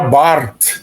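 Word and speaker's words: Barth: Nos Estados Unidos o pessoal costuma falar calles por causa do th no final, mas em alemão o th não tem esse som. Ele era suíço de língua alemã, então era Bart mesmo.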